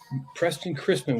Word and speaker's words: Preston Chrisman: now live and we've got Fisheries biologist Mr Preston Chrisman I'm pronouncing that right aren't i y That's Right Preston Chrisman with us tonight and I have been looking